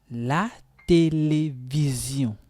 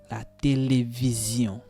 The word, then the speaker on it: télévision: La télévision. La télévision. This sound also is very difficult for English people to pronounce. Zion. Zion. La télévision.